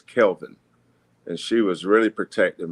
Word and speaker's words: Kelvin: Uh growing up a lot of people called me Kevin or Calvin and my mother would always say his name is Kelvin and she was really